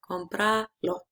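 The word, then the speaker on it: cómpralo: Okay, when we say buy it, mhm, we still have to stress it in the first syllable, compra. But now we have to to write together this pronoun and now we can see that this ends with vowel, so the stress should be in the second last syllable, compralo. But we cannot change it, we need to maintain it here, so we mark it.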